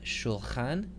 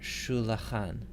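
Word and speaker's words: שֻׁלְחָן: So we can either have shulchan or we can have shulachan. So once again, because the vowel can be either short or long, the schwa wants to remain silent if it can. So this word is pronounced shulchan. Shulchan.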